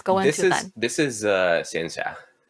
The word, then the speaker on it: xianxia: pardon my likely mispronunciation, but it's xianxia.